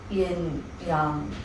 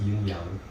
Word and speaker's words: yinyang: How do you say yin yang in Chinese? In Chinese, it's just yinyang.